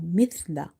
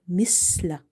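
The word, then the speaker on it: مثلا: Mim, tha, kasra, mith, lam, fatala, mithla. Now this word is mithla. It's not misla.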